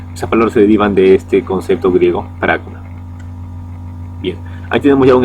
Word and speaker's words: pragma: La palabra pragmatismo proviene del griego pragma. Ahí está en griego, para pronunciarlo en español, ahí está, pragma, P-R-A-G-M-A, pragma, que significa acción.